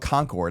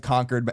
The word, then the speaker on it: Concord: speech or whatever and they call it Concord and I'm like no one ever called conquered that New Hampshire Concord like did no one on the set know that so like they they have